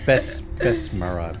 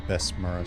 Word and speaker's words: Besmara: Besmara.